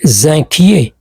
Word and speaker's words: inquiet: Je suis inquié. Je suis zin inquiet. On prononce pas le thé à la fin.